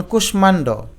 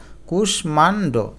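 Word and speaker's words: কুষ্মাণ্ড: যেমন কুশমান্ড। এখানে মধ্যন্যসের সাথে একটা ম আছে মানে ম ফলা আছে। এ ম কিন্তু উচ্চারিত হলো। এইযে দেখো কুষমান্ড।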